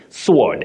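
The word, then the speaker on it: sward: That is a literary word. S-W-A-R-D. Sword.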